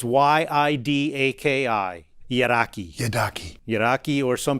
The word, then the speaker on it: yidaki: It's Yidaki. Yidaki. Yidaki. Yidaki, or some people say Yidiki. I've heard it pronounced Yidaki more, so that's what I go on.